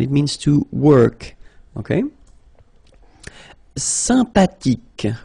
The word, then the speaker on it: sympathique: Sympathique. Remember the H. H is not pronounced. Sympathique.